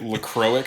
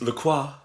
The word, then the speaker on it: La Croix: LaCroix is the really, really terrible way to say it.